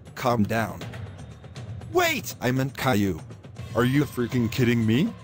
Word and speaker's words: Caillou: Caillou. Shut up! Caillou, calm down. Wait! I meant Caillou.